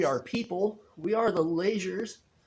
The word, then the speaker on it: Leasure: people we are the lasers our last name is pronounced laser it's not pronounced leisure um but that's just